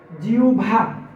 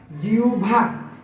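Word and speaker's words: জিহ্বা: আমরা বলি যে জিহভা এটা জিওভা উচ্চারণ হবে না এটার উচ্চারণ হবে জিউভা জিউভা প্রমিত উচ্চারণ হবে জিউভা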